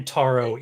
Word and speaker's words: Entaro: How do you spell that? I don't remember. Entaro, E-N and space T-A-R-R Taro, one R, like the And- drink.